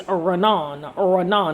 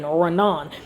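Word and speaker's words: רנן: This right here, which is so beautiful, this word right here is Ranan, phonetically R-A-W-N-A-N, Ranan.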